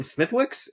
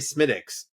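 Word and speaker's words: Smithwick's: even bartenders, I'm like, do you mean smithwicks? I'm like, yeah, sure, why not? Whatever gets me the beer, right? And uh but when I was in Ireland, like they're like, no, you need to drop that W out, sir.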